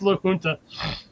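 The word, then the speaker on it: La Junta: It's Luna. The J is technically an H.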